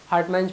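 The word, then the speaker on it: Hartmann: अब एक जो ये पाउच देख रहे हो आप लोग, पाउच लाइक स्ट्रक्चर, इसको बोलते हैं हार्टमैन pouch, हार्ट, HART, हार्ट, मैन, हार्टमन या मैन जो बोल सकते हो, एक बार स्पेलिंग कंफर्म कर लेना, ठीक है।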